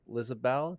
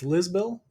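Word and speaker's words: Lisbel Diaz: It is Lizabel Diaz. Did I pronounce that correctly? I think it's Lisbel.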